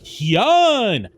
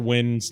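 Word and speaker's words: Nguyen: Hyun! And then Mr. Win's like, it's Win!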